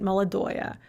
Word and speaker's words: молодое: Once again, we have oya, but we actually pronounce it, молодое.